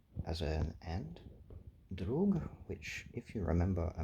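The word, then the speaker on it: друг: I think people often referred to that meme as a peer, but it is in fact pronounced drug and means drug, means friend rather.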